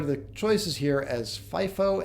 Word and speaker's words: FIFO: The accountants refer to the choices here as FIFO and LIFO. Yes, those are pronounced that way.